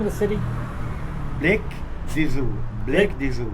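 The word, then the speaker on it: Beylikdüzü: Blake Dizu. Blake Dizu. Blikdüzü.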